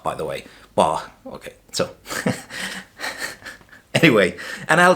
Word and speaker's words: Bach: It's pronounced Bach, by the way. Bach.